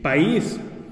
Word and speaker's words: país: que dijimos hace rato o la palabra país si país y como es una